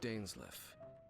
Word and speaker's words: Dainsleif: My name's Danliff. Danliff. I suppose you have some business with me. Been pronouncing that wrong.